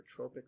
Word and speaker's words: tropic: Not pronounced tropic. These aren't hormones that are released when you're in the Bahamas. These are tropic hormones.